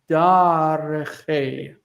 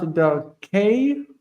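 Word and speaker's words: דַּרְכֵי: The historical vowel is a, so it's dareche. And this is soft because of that, because of this. Not darkei, but dareche. I know that it feels weird, but it's dareche with a soft kaf.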